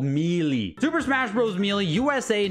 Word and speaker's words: Melee: of this sooner but Super Smash Brothers mey and yes that's how you pronounce it it's called mie Super Smash Bros melee